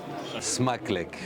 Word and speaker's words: Smakelijk: Donc Smakluk. Smakluk. Ça, c'est la bonne prononciation.